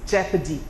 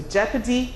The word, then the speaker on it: jeopardy: our lives in jeopardy rather the word is jeopardy so jeopardy Leopard those are two words where yo self